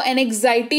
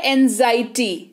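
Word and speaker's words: anxiety: ठीक है, तो मैं आपको ये बता रही हूं कि इस शब्द को एनेक्साइटी नहीं पढ़ते हैं, एक्स का उच्चारण जो है उस पर जोर नहीं पड़ता है, ये सिंपली होता है एंजाइटी।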